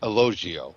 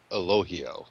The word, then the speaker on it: Elogio: That was Elogio. That is not correct. It's actually Elohio, believe it or not. The G is silent.